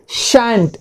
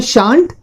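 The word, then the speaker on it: shan't: Okay, the models, shell plus not, ये है शांत और शांत। इनके दो प्रोनाउंसिएशन होते हैं, एक तो होता है शांत और दूसरा होता है शांत।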